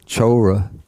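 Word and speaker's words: cora: The word used in Pali is chora. I remember last time we had some trouble with this. Let's see. The C in Pali, it's always pronounced like CH.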